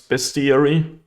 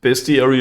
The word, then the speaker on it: Bestiary: Lifecrafter's Bestiary. Is it Bestiary or Bestiary? And it's not spelled like beast. It's spelled like best. Like the best ERE that exists.